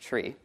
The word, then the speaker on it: trie: This is pronounced tree, right? Retrieve, which we can use to model lists of values and key value pairs.